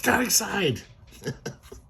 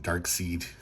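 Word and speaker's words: Darkseid: My whole childhood I pronounced Dark Seed until I saw like the Super Friends cartoons. I was like, "Oh, it's a dark side.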